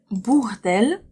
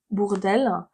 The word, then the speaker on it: Bourdelle: Alors, plein, bord et bourg. Cette syllabe, la première syllabe, c'est bord. Bord. Le deuxième mot commence par bourg. Pourquoi bourg? Parce que au U, en français, ça fait ou, tout simplement. On prononce bou. Bourg, d'elle. La seule différence entre ces deux mots, c'est qu'ici vous avez bord et ici bourg. Ça change tout.